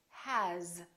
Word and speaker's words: has: example the word has it's spelled with an s but the sound is actually z has here's another one this